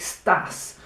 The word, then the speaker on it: estás: It's spelled E-S-T-A-S, but it sounds like stas because the E is really quiet because the A is accented.